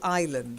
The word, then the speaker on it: island: aisle it's a small island so island is a silent s and so I own